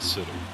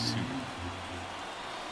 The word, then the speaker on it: Suter: Next for Cincinnati, That is how you pronounce it. It's not Suter. It's Suter. Suter.